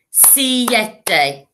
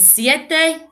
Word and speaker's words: siete: an s si de so if we think of six is one syllable space six space seven two syllables seven in spanish three syllables si yeti you try it and siete is number seven show